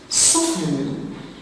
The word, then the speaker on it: soften: Soften, the silent letter is the T after the F.